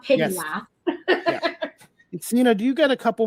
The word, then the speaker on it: Seena: Sleem, and that's spelled SEENA SLEEM. And I always say Seena like John Cena, so you'll never get confused with how to pronounce it.